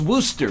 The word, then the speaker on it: Worcester: even though that's the way it's spelled it's pronounced Worcester for four reasons okay I got to see